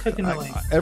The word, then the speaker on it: Kokonoi: Adam's friend, Kokonoi? Is that how it's pronounced? Yes, Kokonoi.